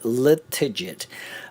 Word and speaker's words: Latigid: name come from um it's simply digital spelled backwards so um now that you know that you never have to misspell it again and it is pronounced liit my name is